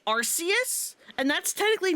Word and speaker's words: Arceus: I it is Arus and I will refuse to say it any other way.